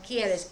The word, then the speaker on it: quieres: I know, but I don't know how to pronounce it. Okay. Quieres. Quieres, just a minute. Quieres.